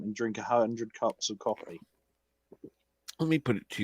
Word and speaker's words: Ko-fi: actually use the Ko-fi or whatever it's called, coffee. I'm assuming is what they pronounce it as.